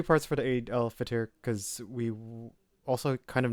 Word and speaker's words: Eid al-Fitr: How do you pronounce this? Eid al-Fitr. Eid al-Fitr, which is the festival of breaking fast, and